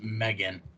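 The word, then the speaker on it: M3GAN: 2023 I like how it has to put Megan pronounced Megan got after her parents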